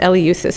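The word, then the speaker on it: Eleusis: he lived along the route from Athens to El usus it's pronounced El usus if you Google it there's a nice YouTube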